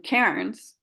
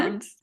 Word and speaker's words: Cairns: And when I went on these retreats, recently, in fact, I was in Cairns. I don't say it correctly. I know I say it American. Karen? Cairns.